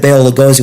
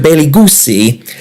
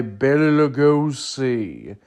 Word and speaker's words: Bela Lugosi: He said Bela Lugosi was a jerk because as a little kid, he mispronounced his name, accidentally calling him Mr. Bailey Goosey.